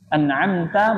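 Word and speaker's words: أَنْعَمْتَ: kesalahan yang berat contoh anamta menjadi anamtu ya anamta Jadi an'amtu yang tadinya hurufnya fathah bacanya anamtu alhamdulabbilamin arrahmanirrahim malikiidin iya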